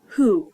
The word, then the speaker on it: who: H in the word who and even though it's the second letter it's the first letter that is pronounced it's the first letter